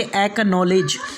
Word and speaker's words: acknowledge: इसके बाद में पांचवा रूल्स है, अगर सी के बाद के या क्यू आ जाए तो सी को नहीं पढ़ा जाएगा। जैसे कि एक्नॉलेज, ACKNOWLEDGE एक्नॉलेज, उसके बाद में एक्वायर, उसके बाद में एक्वाइंटेड।